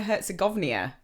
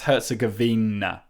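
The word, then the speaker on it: Herzegovina: I think I always say Bosnia Herzgoia. I say Herzgavvenia, but it's it's Herzgavina.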